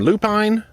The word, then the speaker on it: lupine: flowers, which I've heard people call them lupine, lupin, lupin. There's all sorts of different pronunciations depending on where you're from.